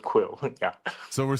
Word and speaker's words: QwQ: yeah it's okay I we just call it quill 32b something funny because the the characters look very funny we have a subculture for these things yeah just to express some yeah our feelings amazing quen quill 32b and it's typed the name is typed qwq to bre you this